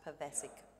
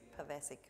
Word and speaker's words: Pivacic: My surname is pronounced Pivacic, as in Jurassic, Pivacic. Pivacic.